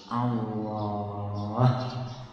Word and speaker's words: Allah: Lalu huruf lam yang pertama diidghamkan atau dimasukkan ke dalam lam yang kedua, sehingga menjadi satu lam yang ditasydid. Lalu lam yang kedua dibaca tebal sehingga dibaca Allah.